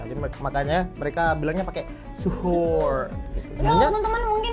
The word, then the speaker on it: suhoor: Kalau teman-teman type in di Oxford gitu atau Cambridge, dia nanti yang muncul adalah suhoor. Oh, tulisannya suhoor. Iya. Iya, The way they Iya, pronounce paham.